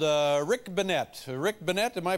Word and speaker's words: Bennette: you pronounce it actually it's actually pronounced Banette benette what did I